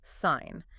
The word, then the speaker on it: sign: The G sits there in total silence. Phonetically, you just say sign.